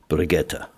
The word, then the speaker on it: Brigitte: or say it right b r i g i TT and German pronunciation brietta we have seen upwards of 40 different spellings briette brigit